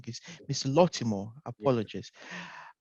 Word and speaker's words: Lottimore: good morning mr baltimore um uh welcome to uh the interview today uh apologies i think i pronounced your name wrong is mr lotimo apologist right so welcome to today's interviews and